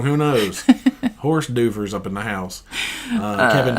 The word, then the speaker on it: hors d'oeuvres: and I'm like, okay, there's like 8 silent letters in hors d'oeuvres. Horse d'oeuvres.